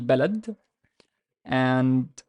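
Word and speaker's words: بلدًا: And here in this example, so it's ba'la, and the dal has tanween fatha because we know by the alif, final alif, and dal is not connector, so the alif is standalone. So we say baladan, baladan, baladan.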